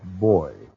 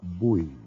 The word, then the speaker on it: buoys: No Navy man would ever say life boy. Pronunciation's optional, but we call them buoys in the Navy.